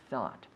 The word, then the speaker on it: thought: same with think thought it rhymes with words like hot and not right yes caught caught